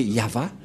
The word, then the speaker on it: Yahvah: de de yava et la prononciation de y h selon les Hébreux c'est yava et personne ne peut